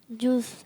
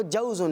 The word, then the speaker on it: جوز: جوس. جوس. انہوں نے ویسے جوس کہا ہے, لیکن جو اس کا درست تلفظ ہے وہ جوزن ہے, جیم کے اوپر زبر ہے, جوزن.